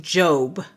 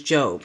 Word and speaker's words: Job: Esther The Book of Job it is job not job j o is job The Book of Psalms